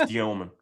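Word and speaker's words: Demin: It's spelled Demon, but it's pronounced Dioman.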